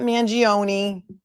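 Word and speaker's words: Mangione: please tell everyone that his name is pronounced mangion it's not mangioni it's mangion some of my Italian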